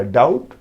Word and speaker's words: doubt: अब डाउट लिखना है, देखिए DOUBT होता है, लिखे हैं डाउट। अब पढ़ते हैं क्या, डाउट, बी को हम क्या करते हैं, नहीं उच्चारण में लाते हैं, नहीं लाते हैं, साइलेंट